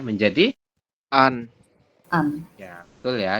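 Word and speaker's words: 앉: Ini anet dibacanya hanya an.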